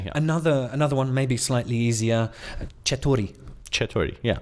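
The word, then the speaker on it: چطوری: Yeah, I think everybody around the world can pronounce something like che. Chetori. Yeah, so that's how are you? Chetori. Chetori. That's Yeah, exactly. and it's got a re on the end.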